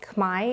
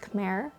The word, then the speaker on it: Khmer: count as a takeaway is that it is pronounced Kai even though visually it looks like it should be pronounced Kare uh when you come to Cambodia you hear